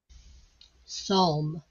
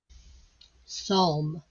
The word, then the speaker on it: psalm: You have to listen closely for the O sound in this word, but it's there. Psalm. Psalm. Hear it? Psalm.